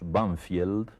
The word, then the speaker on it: Banfield: de Buenos Aires que nosotros pronunciamos vanfield pero que tiene un nombre inglés banfield y ese nombre inglés